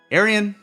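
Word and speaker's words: Arjen: Arian Anthony Lucasen.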